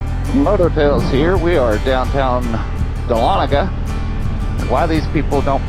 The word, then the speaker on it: Dahlonega: We are downtown Dahlonega. Why these people don't pronounce it Dahlonega is beyond me, because that's how it should be pronounced, because it's cooler that way. But anyway, we're right downtown Dahlonega.